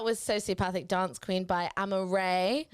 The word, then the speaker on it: Amarae: That was Sociopathic Dance Queen by Amaray. How do you even spell that?